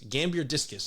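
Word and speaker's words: Gambierdiscus: dagates in the genus gamber gambir disc discus Gambier discus sorry have always have pronounced having trouble pronouncing uh Latin names and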